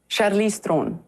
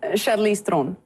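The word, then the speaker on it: Charlize Theron: mai thin po hi South African thovani You pronounce your name? Charlize Theron. I much prefer that. That's so much sexier. Say that again. Charlize Theron. Charlize Theron.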